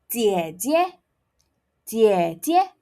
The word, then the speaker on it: 姐姐: Elder sister is pronounced as 姐姐,姐姐.